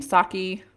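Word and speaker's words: Psaki: Saki, I don't know, it has a P. I think the P is silent.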